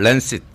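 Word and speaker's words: Lancet: 랜셋, 영어 발음은 랜싯.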